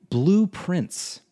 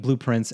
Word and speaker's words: Blue Prince: storm, and it's called Blueprints. And let's just get it out of the way. Yes, I know it sounds like the word blueprints, as in the design schematic for something, because that is on purpose.